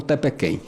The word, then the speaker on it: Tepequém: Não, que os ingleses apelidaram a serra de Topo da Rainha, e os garimpeiros nordestinos não queriam pronunciar Top of the Queen, pronunciavam Tepequém.